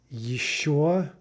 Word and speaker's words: еще: This starts with the "y" sound. So let's practice examples. Еще, еще, right? Note the "y" sound at the beginning.